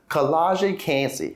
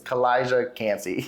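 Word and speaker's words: Kalijah Kancey: the defensive tackle position collage cansey and I think I just pronounced his name wrong just because it rolled off my tongue wrong it's kalijah cansey there we go we're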